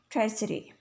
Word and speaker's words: tesserae: It's pronunciation is ट्रेसरे।